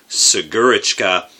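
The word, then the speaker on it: Снегурочка: But he said it is pronounced Snegurechka, the Snow Maiden.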